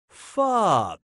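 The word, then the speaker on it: pho: so who got it this delicious soup is pronounced fob if that name's taken you could call your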